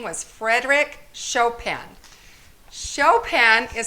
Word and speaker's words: Chopin: name was frederick chopin chopin is spelled like this it looks like choppin but you say show pan so frederick chopin was